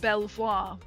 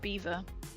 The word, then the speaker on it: Belvoir: Now, typical Brit Well, it's probably not really a British name, but it looks like it should be pronounced Belvoir. It's pronounced beaver.